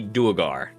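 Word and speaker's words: Draugr: Is it Dagar or whatever? Or Dger or I I say Dagar.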